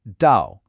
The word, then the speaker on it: 到: Next, we have da pronounced dao in this phrase.